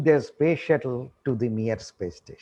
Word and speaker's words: Mir: Of course, in 1980s, the Soviet Union bounced back with a huge space station called Mir, M-I-R. Many people pronounce it as Mir. It is Mir.